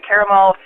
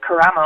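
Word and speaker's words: Karamo: um my good friend christina caramel uh is uh which i think i just totally slaughtered her last name carramo i believe is actually how you say it but um she's running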